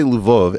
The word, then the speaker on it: Lvov: Now, by the way, if I say Lvov, everyone's going to correct me and say, no, Eric, it's Lviv. It's like, no, these cities all have multiple pronunciations. I always thought of Lvov was a Polish city, not a Ukrainian city.